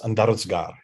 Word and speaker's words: Andarzgar: The name, the pronunciation is Andarzgar.